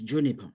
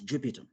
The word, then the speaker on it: Juniper: are forgiven for that my surname is Juniper not Jupiter anyway um I I